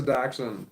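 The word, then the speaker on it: dachshund: go what kind of dog is that a doxen or however you spell it that is a dotion and you did spell it wrong do d a c h s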